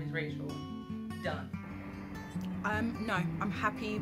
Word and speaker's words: Rachel: where I'm from and because they kill Rachel it's like Rael I'm like my name is Rachel my name is what